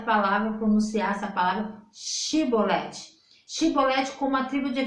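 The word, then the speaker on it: שיבולת: atma discordância na pronúncia eles não conseguiam pronunciar o ch eles falavam com s e ali é não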